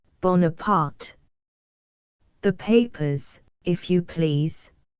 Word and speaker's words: Bonaparte: She gives the name a marked Italian pronunciation, Buonaparte. Napoleon, angrily, with the French pronunciation. Bonaparte, madam, Bonaparte.